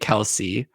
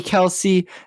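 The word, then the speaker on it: Kelce: decided to make it Kelsey. So, if you originally had the name, do you really get to choose how it's said? No, it's the public opinion. Because is it really Kelsey? No, it's Kels.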